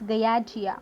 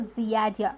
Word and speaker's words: Giardia: In this Giardia or Giardia, we may pronounce in any way.